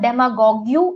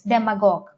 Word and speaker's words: demagogue: It's not demagogue, it's demagogue. It's demagogue, right?